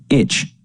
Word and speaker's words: ITCZ: Scientists call this rain belt the Intertropical Convergence Zone, ITCZ, pronounced itch.